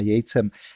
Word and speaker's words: Yates: Já jenom jednu věc, moje angličtina je bídná, nerad bych komolil jméno, píšete to Jates jako z Y a já to teda budu vyslovovat jako Jejc, nevím opravdu, jestli to vyslovu správně, ale tak to už je celkem jedno.